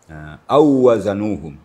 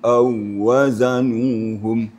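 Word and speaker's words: أَوْ وَزَنُوهُمْ: Ini jangan sampai kita panjangkan. Hanya sekadar mentasydidkan waw musyaddadah. Jadi cara bacanya wa idza kaluhum aw wazanuhum.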